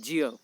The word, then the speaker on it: ज्ञ: दोस्तों ज्ञ का जो सही रूप से या मानक उच्चारण है वह है ज्य। क्या है दोस्तों, ज्य। लेकिन अधिकांश रूप से जो अधिकांश लोग हैं वह इसे ज्य नहीं बोलकर क्या उच्चरित करते हैं, ज्ञ उच्चरित करते हैं।